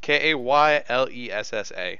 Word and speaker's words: Kaylessa: Kaylessa. Spell it one more time.